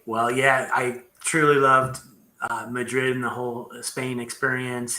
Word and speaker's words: Madrid: Madrid, that's right. Madrid. Awesome. I can say it right because I am. My mom's family is from Mexico, so I can say Madrid, even though the Spanish in Spain is a